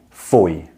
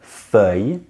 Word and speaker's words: feuille: Break down the word feuille into different syllables, because you can pronounce these already. I know you can. You know the word for fire is f. If you don't worry. The word for two is de. It's the same sound, f, de, f, de.